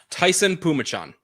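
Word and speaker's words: Taisun Phommachanh: for it i'm ready it is tyson t-a-i-s-u-n pumachan tyson pumachan hmm that wasn't even close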